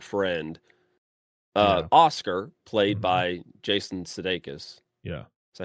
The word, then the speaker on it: Sudeikis: Goes to the store to get some stuff, runs into her old childhood quote unquote friend, Oscar, played by Jason Sudeikis.